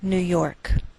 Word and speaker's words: New York: Note that we treat New York as one word and we place more stress on the second part, York. Again, that's Albany, New York.